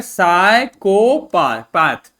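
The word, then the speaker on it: psychopath: PA होता है प, TH होता है थ, तो क्या हो गया? साइकोपैथ। पाथ नहीं, साइकोपैथ। ठीक, देखो यहां पर क्या लिखा हुआ है?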